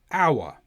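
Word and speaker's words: hour: But in some words beginning with h o the h is silent such as our honest.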